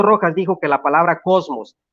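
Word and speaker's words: κόσμος: Empieza con una omicron, empieza con una sigma, cos, empieza con una mu y termina con una cisma, cosmos, se pronuncia dentro de la morfología griega, cosmos, cuando dice que a Jesús lo seguía todo el mundo.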